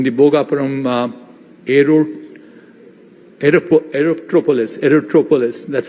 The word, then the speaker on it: Aerotropolis: same thing in the Bogaparam aero aerop Aerotropolis aerotropolis that's how it's getting rightly pronounced and what can we do there is